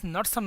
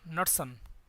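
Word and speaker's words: Knudsen: It's Nusselt number, Nusselt number. K is silent. K N U D S E N Nusselt.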